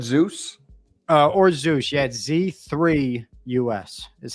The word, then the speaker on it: Z3US: the other one you said Zeus uh or Zeus yeah z3us is how it's spelled okay so you are gonna have to